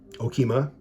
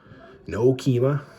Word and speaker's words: Okemah: some property in um Okemah no keema got a guy trying to say it like Aunt Darlene but um so no